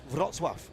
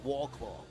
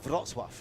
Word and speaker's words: Wrocław: How do we pronounce that? Wrocław. Wrocław. Yeah, it's spelled W-R-O-C-L-A-W. It looks like Warclaw.